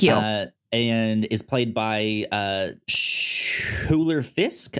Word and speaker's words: Schuyler: And is played by Schuyler Fisk, I believe is how you say, or Skyler. I believe. I would think it's Skyler, but there's a U in there. S-C-H-U-Y-L-E-R. I think it's Skyler, because I think that's Skyler? How the Skyler sisters from Hamilton, I think that's how their name is spelled.